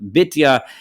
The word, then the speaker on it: Bitya: And this is where this name Bitya is how it's written and pronounced here. Often it's pronounced Batya.